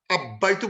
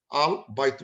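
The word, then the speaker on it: البيت: The house, আল দিলেই, এবং এটা যেহেতু হরফুল কামারিয়া, আব্বাইতু বলবো না, আল আল বাইতু, তখন আলটা উচ্চারণ হবে, বাটা ক্লিয়ার থাকবে, আল বাইতু, বিকজ বা ইজ হরফুল কামারি, আল বাইতু, আব্বাইতু হবে না, আল বাইতু।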